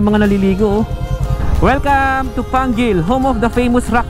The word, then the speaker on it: Pangil: ba pronoun tamang pronounce Pangil or panggil Pangil Pangil pronunciation Pangil Ah yun pangil mali tayo guys saing sa kurimaw